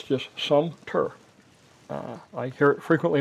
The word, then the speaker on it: Sumter: It's just Sumpter. Uh, I hear it frequently mispronounced and I'm the last person that should